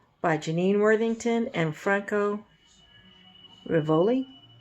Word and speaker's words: Rivoli: Janine Worthington and Franco Rivoli I was trying not to pronounce it as ravioli so we'll see a